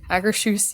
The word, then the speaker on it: Akershus: I can never pronounce that, but Akershus. Akershus. Akershus, yes.